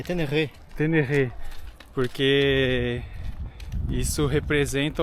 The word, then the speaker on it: Ténéré: Ele falou que a pronúnessa correta de tener, que nós brasileiros falamos tener é tenerê.